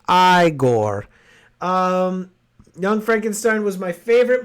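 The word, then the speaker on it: Igor: getting educated on silver the guy is pronounced I Gore Young Frankenstein was my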